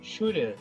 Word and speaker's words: Schurer: aí, a presidente do CEPES, a professora Schurer. É assim que se pronuncia, professora?